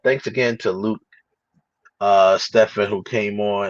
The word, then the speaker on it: Stephen: again to Luke uh Stefan who came on and I apologize I was pronouncing your name when I was saying Stephen it's Luke stefen who was um coming